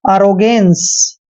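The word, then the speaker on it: arrogance: ए को देखिए दोस्तों हम ए लिखते हैं ए को हमने क्या पढ़ना है ए और डबल आर को र पढ़ते हैं ओ को ओ की मात्रा पढ़ते हैं और जी का उच्चारण ग करेंगे ए को ए की मात्रा पढ़ेंगे और एन को आधा न पढ़ना है सी ई को स पढ़ते हैं एरोगेंस एरोगेंस एरोगेंस होता है दोस्तों अहंकार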